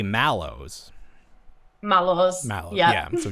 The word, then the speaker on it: Mallows: pronounce the product Squishmallows, because in America it's like, it originates from marshmallow, and we say mellow even though there's an A. Like a lot of the times the way that Americans pronounce things doesn't make any sense. But you respect the A.